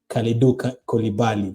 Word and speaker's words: Kalidou Koulibaly: Kalidou Koulibaly, that's how you say it.